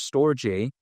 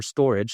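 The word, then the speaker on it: Storj: Of course, there's Filecoin, there's Jasmi, there's Arweave, there's storej or storage some people like to call it, but it's spelled like store J. But yeah, whatever you know it is storage, store J, tomato, tomato. But even besides that also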